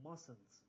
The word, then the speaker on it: mustn't: You mustn't play with matches. Must plus not. Mustn't. Note the first T is not pronounced.